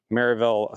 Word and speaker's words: Sevierville: Time is money, and these guys over at Sevierville Fence, which is how they pronounced it, had great reviews.